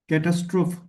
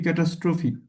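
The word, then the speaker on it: catastrophe: ক্যাটাস্ট্রোফ নাকি ক্যাটাস্ট্রফি? আচ্ছা সুন্দর। এটা হচ্ছে আমরা ক্যাটাস্ট্রফি বলতে পারি। ঠিক আছে?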